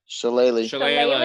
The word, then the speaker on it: shillelagh: I once drunkenly attacked a Canadian goose with a shillelagh. Shillelagh is correct. Shillelagh. What is it? It's pronounced.